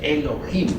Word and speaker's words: Elohim: Eso significa Elohim, o mejor dijéramos Elohim, porque la H se pronuncia como J.